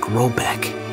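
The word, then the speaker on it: Råbäck: The manor house, or hergård, in question is to be called Rabeck, pronounced something like Robeck, though that is not its name.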